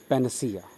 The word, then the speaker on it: panacea: Next word is पैनासिया। हाँ, इसका correct pronunciation है पैनासिया। अन साउंड के बाद अ साउंड आएगा, पैनसिया नहीं पढ़ेंगे, पैनासिया, राइट।